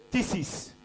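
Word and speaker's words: κτίσις: Et le mot qui est là pour créature en grec c'est, excusez-moi la prononciation, c'est tisis.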